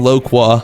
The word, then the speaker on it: loquat: And I just searched it up and apparently this is pronounced fyoa and then loqua.